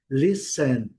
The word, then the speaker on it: listen: Listen, não pronunciando o T.